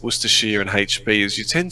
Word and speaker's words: Worcestershire: No, you're not saying it right anymore. Okay. Oh, you said it wrong, is what you said. It's like Worcestershire.